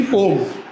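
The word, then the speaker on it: poem: तो अभी भी कई लोग पोयम बोलते हैं। हाँ, पोयम नहीं बोलते, एक्चुअली उसकी प्रोनाउंसिएशन होती पोम।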